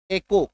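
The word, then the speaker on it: echo: जब किसी शब्द के बीच में जब किसी शब्द के बीच में सीए आ जाए तो मैक्सिमम टाइम सीएच का उच्चारण क होगा।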